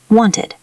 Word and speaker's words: wanted: If the word ends in a T or D sound, we pronounce ed as a separate syllable with an IH sound. Wanted.